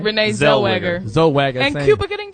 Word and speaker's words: Zellweger: Renee Zellweger.